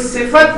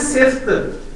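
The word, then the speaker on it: صفة: तो कोई सिफत जो है, आप देखें हम बोलते हैं इसे उर्दू में बोलते हैं सिफ्त, लेकिन इसकी प्रोनाउंसिएशन जो है अरबी में वो है सिफत। सिफत यानी फा पे जबर बोलनी है।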